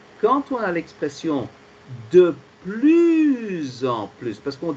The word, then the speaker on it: plus: Donc, tu vois, le premier PLUS, le S est prononcé comme la lettre Z.